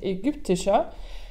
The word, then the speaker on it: ägyptischer: De nouveau, l'accord du masculin à l'adjectif égyptien, donc ägyptischer. Attention à la prononciation du Y, ägyptischer. Le Y en allemand se prononce presque comme un U.